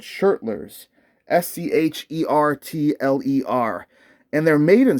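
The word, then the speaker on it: Schertler: these tuners are super cool i hope i pronounced them right they're called shirtless s-c-h-e-r-t-l and they're made in switzerland open gear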